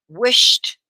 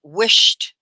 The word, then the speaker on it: wished: end i wish wish wished it's one syllable right wished if you put an e d on it you don't say wish ed okay do you ever